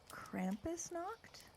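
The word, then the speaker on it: Krampusnacht: of this on me Krampus knocked this is how it's pronounced okay so so what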